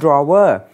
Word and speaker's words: drawer: มั น เ ขี ย น ว่ า drawer.